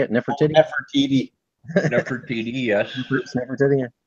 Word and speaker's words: Nefertiti: Nefertiti.